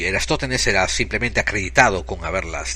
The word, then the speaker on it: Eratóstenes: directamente de inglés y en inglés se escribe Eratóstenes. Así que acabo de hacer una podrida pausa en el podcast para buscarlo en el Google y se dice Eratóstenes.